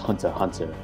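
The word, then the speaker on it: Hunter × Hunter: Because Hunter X Hunter is pronounced Hunter Hunter, but I still say Hunter X Hunter just because people like recognize it more often.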